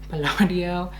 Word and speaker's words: Palladio: So she recommended the Palladio, that's how you say it, Palladio, and the Revlon one.